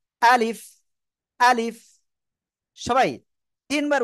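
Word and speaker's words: ألف: এই অক্ষরের নাম ছিল আলিফ কোন জায়গা থেকে উচ্চারিত হয় মুখের খালি জায়গা থেকে উচ্চারিত হয় আর শেষে নিজে ঠোঁটের পেট সামনের উপরের দুই দাঁতের আগার সাথে লাগিয়ে হালকা বাতাস বের হয় আলিফ আলিফ আলিফ সবাই তিনবার উচ্চারণ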